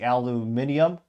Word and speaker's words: aluminium: piece of Alum as as the folks across the P say aluminium or we saw it